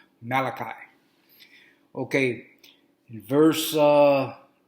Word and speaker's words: Malachi: you read you see that where the way it's spelled you're gonna say malachi like he's italian no it's pronounced malachi okay in verse uh it's chapter three i'm